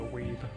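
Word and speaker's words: Wiebe: Dude, your last name's Weebi or is your first name Steve? Do you like Donkey Kong? That somehow worked. It's pronounced weeb.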